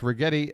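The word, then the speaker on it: Righetti: Yankee Dugout Dave retti fun fact retti the only professional ball player to have a name that rhymes with spaghetti actually I take that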